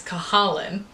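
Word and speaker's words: Cahalan: in the book that everyone says their last name wrong it's kahalen and i got it wrong every time i was reading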